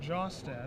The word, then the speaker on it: Jostad: Last name is pronounced Jostad, in case you are wondering.